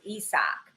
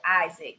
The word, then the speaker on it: Isak: cruz um i think his name is isak it's what he likes to be pronounce it um we would pronounce it isaac but i mean he